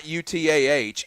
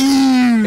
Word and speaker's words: Eutaw: We have a Utah, but not UTAH. EUTAW. Like Utah. It's spelled like people say it.